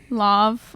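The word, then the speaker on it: Lauv: when we were young okay we fell in love that's awesome when anyways i can't sing it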